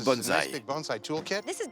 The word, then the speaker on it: bonsaï: J'imagine que c'est un kit pour bonsaï.